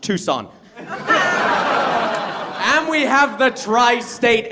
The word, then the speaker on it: Tucson: And when I make jokes about it, people say it's too soon. And I say it's actually pronounced Tucson.